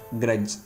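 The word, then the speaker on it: grudge: ஏன்னா டிக்கு சைலண்ட் கொடுக்கணும் இந்த இடத்துல. ஏன்னா ஜிக்கு முன்னாடி டி வருது. என் அண்டு ஜி இதுக்கு முன்னாடி டி வந்தால் அந்த டி சைலண்ட்டாக மாறும். ஸோ ஞாபகம் வச்சுக்கோங்க. இதை வந்து எப்படி ப்ரொனவுன்ஸ் பண்ணணும்னா கேட்ச், பிளட்ஜ், கிரட்ஜ் இப்படி தான் சொல்லணும்.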